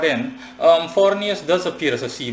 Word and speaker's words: Forneus: haven't covered yet and it's forus or as I simply like to pronounce it flat foros in any case forus